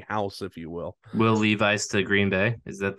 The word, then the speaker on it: Levis: Will Levi's to Green Bay? Is that the chant I'm hearing? Possibly. I say Levi's, but I'm pretty sure it's pronounced Levis.